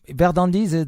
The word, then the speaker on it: Verðandi: So, my next question is about Verðandi. It's Yes. Verðandi. The pronunciation is correct.